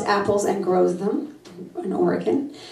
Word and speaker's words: Oregon: She loves apples and grows them in Oregon, or as I used to say in New York, Oregon. We didn't know how to say it.